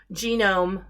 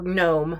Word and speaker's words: GNOME: kind of like photoshop genome or gnome depending on how you want to pronounce it mozilla makes firefox apache